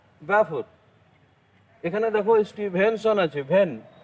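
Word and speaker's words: Balfour: এবার দেখো ব্যালফোর, বানানটা দেখো ব্যালফোর আছে, BAL, এল এর উচ্চারণ কিন্তু হবে না, ব্যাফোর।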